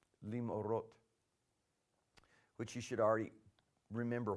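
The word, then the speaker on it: למאורות: I included the schwa on my pronunciation just a minute ago as a separate syllable. But in this instance, it's not. It's going to be a two-consonant syllable, lim'orot, which you should already remember why that is.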